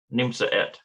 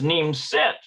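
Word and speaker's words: נמצאת: in other words okay neem i think that's how you pronounce that nimsa no it's neem set is your mother in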